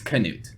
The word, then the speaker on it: Knute: here today with yeah correct it's Knut Knut yes Kent it's it's one of the hardest words to pronounce here other than winner and winner yeah